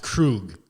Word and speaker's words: Krug: Derek's Krug is his last name is pronounced Krug.